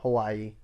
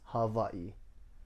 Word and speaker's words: Hawaii: and sharks yeah yeah hawaii is not hawaii it's not hawaii it's hawaii w's or v's it's like germany well this isn't really